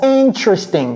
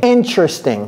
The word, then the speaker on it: interesting: Ça se prononce interesting. Interesting. Il y a certains Américains qui disent interesting. Oui, interesting. Donc, il faut apprendre les deux prononciations. Interesting. Dans interesting, il n'y a pas de T.